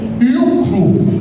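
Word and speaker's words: Louvre: ver porque es que tiene una pronunciación entre el francés, el inglés, el español, el museo de LW, así se pronuncia.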